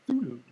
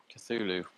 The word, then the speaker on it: Cthulhu: They say the word is Cthulhu. Uh-oh. Cthulhu. Uh-oh. How do you spell that?